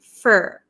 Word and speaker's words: for: So we usually say up for. Usually in American English, this for turns to fur, up for grabs, okay?